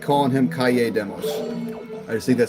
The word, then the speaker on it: Kalle Demos: I like calling him Kalle Demos. I just think that sounds cool. His name is spelled K-A-L-L-E. Which, if you guys know, in Spanish, 2 L's makes a Y sound.